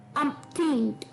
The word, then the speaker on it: umpteenth: अटपटा सा है थोड़ा, अपथिंट। अपथिंट, जी हाँ, इसकी प्रोनाउंसिएशन थोड़ी सी ट्रिकी जरूर हो सकती है।